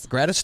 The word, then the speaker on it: gratis: They were asking, what exactly is it is it pronounced gratis? Gratis tag? Gratis. Yeah.